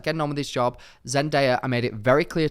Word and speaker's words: Zendaya: because first of all, everyone pronounces Zendaya's name wrong. Like everyone, Zendaya, they always call her Zendaya in America. It wifey. Oh my God. Which I just don't really get, because her name literally says Zendaya, but everyone says Zendaya.